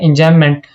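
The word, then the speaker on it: enjambment: इसके अंदर B silent होता है। इसको पढ़ते हैं एंजाइममेंट।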